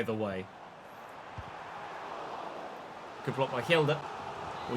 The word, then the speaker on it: Hjelde: Good block by Hjelde. Or Hjelde. The H is silent, I believe.